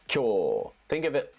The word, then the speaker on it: 今日: This would be pronounced kiyo wa. This is kyo.